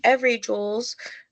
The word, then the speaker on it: Evry Jules: And then your reward is that you can go over to Every Jules, it is spelled EVRY Jules, and use the code Mary788 for a percentage off of your order.